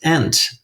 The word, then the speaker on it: ain't: the late 19th century the word would generally have been pronounced ant and there's some lovely